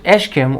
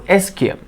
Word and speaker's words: ischium: The ischium, you can pronounce it ischium or ischium.